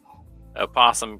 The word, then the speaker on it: opossum: And opossum can be pronounced with its first syllable either voiced or silenced.